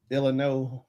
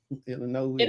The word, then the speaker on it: Illinois: The S is silent. Illinois. Illinois.